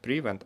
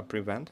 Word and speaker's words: prevent: Prevent. Не prevent, а prevent, поэтому будет prevent, я думаю.